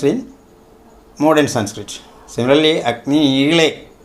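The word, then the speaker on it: ईळे: Similarly, Agni Ile, that La pronunciation is seen in Vedas, not in classical Sanskrit. There is only Da. Agni Ide is the word in modern Sanskrit.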